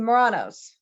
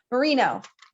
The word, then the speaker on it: Merino: I touched it with a little bit of the watercolor, the Muranos. That was the word I was looking for. Merino.